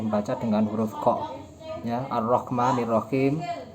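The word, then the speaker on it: الرحمن الرحيم: Ar-Rahmanir-Rahim itu kan pakai ko, bukan pakai ha. Seharusnya pakai ha.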